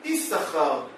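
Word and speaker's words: יששכר: Bene Issachar, ça s'écrit Yud, Shin, Shin, Chaf, Resh. Mais ça ne se lit pas Shin, Shin. Issachar. Ça se lit Issachar. On prononce un seul Shin.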